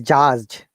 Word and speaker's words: judge: This is judge. Okay, not Haj. Just Yes. okay. Just And dismissed. Once again, dismissed. dismissed. One more Judge. time. D should be silent, right? In judge, D is silent.